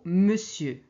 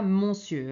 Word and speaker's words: monsieur: une petite exception c'est le mot monsieur on écrit avec o n mais on prononce e ok donc ce n'est pas monsieur hein c'est Monsieur alors maintenant on va